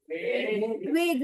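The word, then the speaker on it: vague: वैसे प्रोनाउंसिएशन वेग, वेज नहीं पढ़ेंगे।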